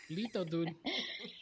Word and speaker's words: Litodood: I have Give 'em everything, your- and everything is Little Dude, but it's spelled LITODOOD. Como los latinos dicen Little Dude, Little Dude. Lito, dude.